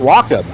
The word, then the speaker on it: Wakeham: The driver of the Willie Make It two-wheel drive truck just texted me and said, you're saying Brad's last name wrong. Well, thank you, RJ. He said it's pronounced Wakeham.